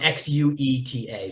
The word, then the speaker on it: Xueta: It's spelled Xueta.